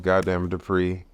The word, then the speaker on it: Gotdamnitdupri: Gotdamnitdupri. It's spelled as said.